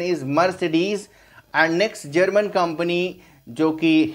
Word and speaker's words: Mercedes: is mercedes mercedes the correct pronunciation is mercedes and next german company jokey hitler founded have